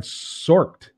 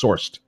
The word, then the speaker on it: Sorcd: Rosario says, Steve, as I tried Sorked, it's a web clipper to save snippets of info in research and writing. No, I haven't. I think it's Sourced would be how it's pronounced, SORCD.